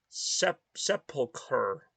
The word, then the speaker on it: sepulcher: The ch in sepulcher is pronounced as just a C because, oh, it's sepulcher? Yes, I've never even said this word before in this game. Sepulcher. So there's no chur in it. It's sepulcher.